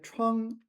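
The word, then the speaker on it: 创: So if it's related to a wound, it's going to be first tone, and if it's related to innovation, it's going to be fourth tone.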